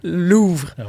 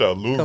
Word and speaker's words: Louvre: C'est dans le top des mots mal prononcés de l'année. Ouais. C'est Louvre. Louvre. Mais en anglais les américains. Lvre. Louis c'est t finissent par eux. Il prononce avec un a à fin comme Porche Louvra comm Porche OK, on a Bonnie Blue qui